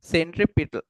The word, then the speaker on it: centripetal: Centripetal force. Centripetal or centripetal, both we can pronounce.